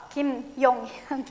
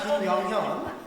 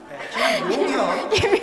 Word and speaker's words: 김용현: 김용현. Not 김영현. 김용현. Please. Be careful to pronounce his name, okay?